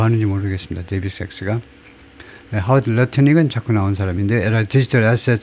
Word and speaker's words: Lutnick: 하워드 러트닉은 자꾸 나온 사람인데, 디지털 애셋 서밋, 가상화폐 그 정상회담에서 at the White House in March, 지난 3월에, 그래서 하워드 러트닉이 지금 무슨 장관이냐 하면, 하워드 러트닉.